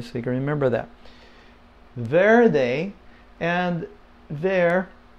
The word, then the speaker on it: verde: that Verde and there the r is not real strong it's almost like a th sound there they there are they okay with the D the D is not strong in Spanish it's not very strong